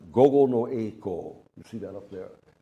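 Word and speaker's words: 午後の曳航: It's pronounced gogo no eiko.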